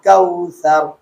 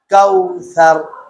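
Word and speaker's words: كوثر: চান তখন আপনার আপনার জিহ্বার আগাটা সামনের দুই দাতের আগার সাথে লাগিয়ে দিলেই পাতলা হয়ে যাবে অটোমেটিক যেমন আবার দেখেন কাউসার তার রববিকা ওহার হা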